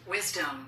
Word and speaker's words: wisdom: 근데 이제 발음은인데 바뀌면이 되는게 아니고 위즈덤이 돼요. 위덤. 예. 따라서 하세요. wisdom. Wisdom. Wisdom. W. 그렇지. 아니고 여기다 디 붙이니까 위즈덤 이렇게 바뀌어요.